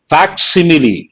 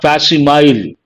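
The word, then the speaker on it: facsimile: a lot of people mispronounce how do you pronounce this fact simile not fastimile that is the correct pronunciation fact simile means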